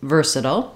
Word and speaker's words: versatile: two correct ways so the first way is versatile that's how I just said it the first time and it's stressed on the first syllable ver so ver is long and SLE